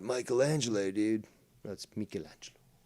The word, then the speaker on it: Michelangelo: and yes it's pronounced michelangelo not michelangelo dude that's michelangelo if you speak the italian and not the american italian like costanza speaks you got a costanza